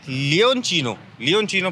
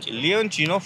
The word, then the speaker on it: Leoncino: तो गाइस ये है लियोनचिनो प्रोनाउंस करते हैं ना इसको, लियोनचिनो 500 है ना, जो कि 6 लाख रुपए की आती है।